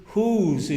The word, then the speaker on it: whose: Whose es who is, significa quién es, Y whose, la misma pronunciación, pero se escribe diferente, es de quién.